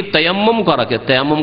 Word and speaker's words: তায়াম্মুম: আর এই তায়াম্মুম করাকে আমাদের দেশের আবার বিকৃত ভাষায় তয়ম করা বলে, শুনেছেন না? তয়ম করা না, তায়াম্মুম করা, শব্দটা একটু উচ্চারণ করতে কঠিন।